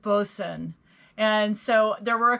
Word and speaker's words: boatswain: the right way because it looks like it is pronounced boatswain but it's actually pronounced bosun and so there were